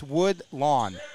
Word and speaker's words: Woodlawn: Yeah, Grace Booth, she taught me, I've been saying it wrong, it's Woodlawn.